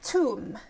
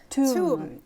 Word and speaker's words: toum: Toum. Toum.